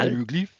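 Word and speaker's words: hiéroglyphes: to the aruglyphs. Aruglyphs, they don't pronounce the H.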